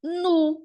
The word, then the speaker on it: nous: Então, a gente lê nu, porque O, U se combinam, se casam e geram um novo som, que o som é o U, tá bom?